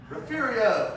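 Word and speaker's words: Refugio: Rafiio.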